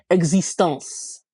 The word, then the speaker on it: existence: I just wanted to mention we will hear the C which will sound like an S. It is not silent. Existence.